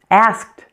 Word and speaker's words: asked: Asked, asked. Here you hear something a little bit different. The ED ending sounds like a T, sounds like t, t. Asked, asked, asked.